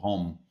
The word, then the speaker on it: home: Por exemplo, home, h o m e h o m e. Esse e não sai.